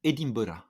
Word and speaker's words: Edinburgh: Alors, si tu me permets de te recorriger, une fois n'est pas coutume, on l'avait fait sur l'Australie, sur la prononciation d'Édimbourg, les Écossais disent Edinburgh.